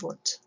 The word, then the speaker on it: Wundt: Remember that the Germans pronounce their W's with V's. So if you know the musician Wagner, they don't call him Wagner, they call him Wagner. So Wilhelm Wundt.